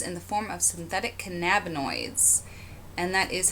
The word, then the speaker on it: cannabinoids: 1 controlled substances in the form of synthetic cannabinoids and that is how you say that cannabinoids at sentencing each defendant faces a potential sentence